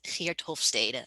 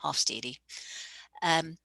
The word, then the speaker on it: Hofstede: of this field is a dutch guy named heretofade or americans would pronounce him hofstede and his definition is